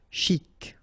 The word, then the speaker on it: chic: e so stressant stressant chic ok you pronounce the final c and then c chic de ban lieu.